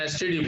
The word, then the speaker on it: STD: It begins with the vowel letter E, but the sound is A.